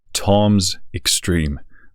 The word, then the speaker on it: Toms X3M: today we're checking out Tom's extreme by stov sampling yes indeed that is how you pronounce the name of this uh lineup as we learned last